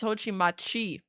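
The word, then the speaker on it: Hoshimachi: Like is it chi or she? because I know the the shi is like pronounced differently, but I don't know which pronunciation is the proper one. Oh, it's Hoi Machi.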